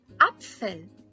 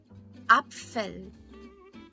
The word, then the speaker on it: Apfel: In German, apple is Apfel. Apfel.